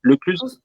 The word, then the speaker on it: Lecluse: Euh, En tout cas, je suis ravi d'accueillir ce soir donc Mathilde Lecluse, comment on prononce Lecluse? Tous se prononcent.